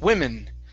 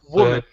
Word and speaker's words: woman: Okay, you were reading this word as a plural. You were saying women. Okay, this is woman. Woman. Singular.